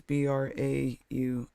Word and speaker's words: Braun: And it's Braun. UN. Because it's German.